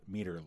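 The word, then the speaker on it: Meater: You stumbled into a meter lair. In a meter lair. It's spelled meter like M-E-A-T-E-R, which is just bizarre.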